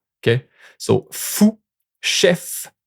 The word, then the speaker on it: chef: Watch out for neuf and chef. The final V is pronounced, which isn't always the case with French consonant.